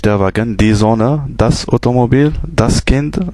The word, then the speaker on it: Wagen: bien sûr on a vu que W se prononcit V wagen et cetera donc voilà c'esti si simple que